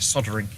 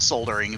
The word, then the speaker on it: soldering: I in my head I generally call it soldering because that's how I always called it when I first encountered the process. I don't know why we don't pronounce the L here.